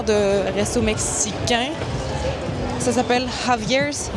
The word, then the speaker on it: Javier's: Ça s'appelle Javier's. C'est s'écrit avec un J mais ça se prononce A.